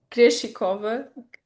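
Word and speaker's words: Krejčíková: Creschikova.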